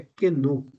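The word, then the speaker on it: κενόω: A pronúncia é kenu, que significa o seguinte, que Jesus abriu mão da igualdade com Deus.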